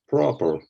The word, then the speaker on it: proper: both ours because yes in American we say the r is everywhere so it's proper and it's not Pearl it's Pro let's say the ah sound in there I mean if we're talking about American proper oh proper okay and it's not fair it's uh per we're trying to skip from the put to the like very fast proper guys you will have